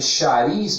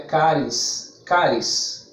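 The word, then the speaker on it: χάρις: A palavra graça, no grego, escreve charis, mas pronuncia caris, caris.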